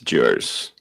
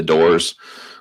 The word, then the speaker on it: Dewar's: brand in the States, Dewar's. None of them know how to pronounce it, but it's a huge brand in the States. You guys have the doors, was always the question that would get asked.